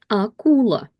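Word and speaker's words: акула: And none of it is affected by the stress that falls on U. So the stress falls on U, but A is not affected by the stress rules, so we read it exactly like we practiced with the syllables. Akula, akula, akula.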